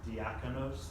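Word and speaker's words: διάκονος: Deacon, as I bet we all know this, deacon comes from this Greek word diakonos, I believe is how you say it.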